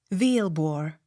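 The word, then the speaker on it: Villebois: v i l l b o i s v bor v i l l i e r s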